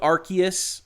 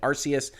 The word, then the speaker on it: Arceus: i will tell you i've absolutely loved arceus which i'm told is the product correct pronunciation even though i've been calling it arceus uh and if they